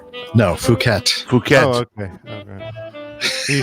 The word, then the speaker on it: Phuket: By the way, how do you pronounce this place in Malaysia? Is it Phuket? No, Phuket.